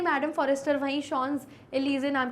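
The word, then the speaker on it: Champs-Élysées: शॉन्स एलिजे, इस वर्ड का जो प्रोनाउंसिएशन है वो है शॉन्स एलिजे, तो शॉन्स एलिजे नाम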